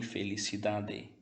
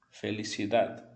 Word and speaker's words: felicidad: deve anotar é que você não vai pronunciar totalmente esse D. Por exemplo, nunca você vai ler ciudade, nem felicidade. Tá ok? Será um D bem leve. Perceba, ciudad, felicidade. O D você vai encostar a língua no dente, mas não vai pronunciar totalmente o D.